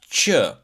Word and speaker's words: q: So letter Q in Albanian you going to pronounce it ch. Ch.